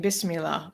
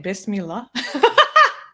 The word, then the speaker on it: Bismillah: with the room yeah Mustafa is saying there's no hey in Bismillah but good job with the pronouncing did I really put fa in Bismillah no you said there